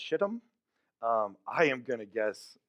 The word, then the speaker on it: Shittim: It is pronounced Shittim.